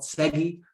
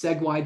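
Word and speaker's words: SEG-Y: new to me segway so that's that's pronounced i want to call it segi but it's segue data and stuff like x-ray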